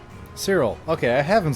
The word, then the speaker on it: Cyril: Oh, the name's Cyril. Cyril.